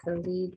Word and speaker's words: Khalid: Khalid.